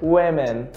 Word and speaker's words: women: Repara que a pronúncia também muda. Eu tenho aqui woman e aqui eu tenho women.